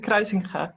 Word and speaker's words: Kruisinga: Is it the right pronunciation? Kruisinga, thank you.